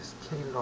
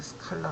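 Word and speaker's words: scalar: 스케일러 될 수도 있고요 제가 이걸 이제 스케일러 아고 부르는데 우리 학교 다닐 때 이제 스칼라 아고 배웠죠 스칼라 배웠는데 수학 시간에 스칼라 배웠는데 실제로 그 발음은 스케일러 혹시 이제 그 해외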